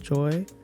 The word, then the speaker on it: GOI: Hey y'all, I go by G.O.I and it's pronounced Joy.